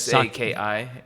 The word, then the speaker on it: sake: People say they write sake, but it's SAKI.